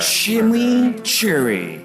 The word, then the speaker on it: chimichurri: new shimmy Cherry cheeseburger shimmy Cherry that's how you pronounce it let it roll off